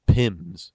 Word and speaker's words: PIM: you might hear somebody refer to something called pims and what pims means is just the way we pronounce p-i-m which is an abbreviation for penalties